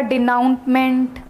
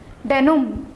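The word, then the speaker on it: denouement: तो कोई इसको पढ़ रहा होगा डिनाउंटमेंट, कोई डिनोटमेंट पढ़ रहा होगा, बट ऐसा कोई भी प्रोनाउंसिएशन इसका नहीं होता। डेनुम, डेनुम, एन तक प्रोनाउंसिएशन होगा, डेनुम।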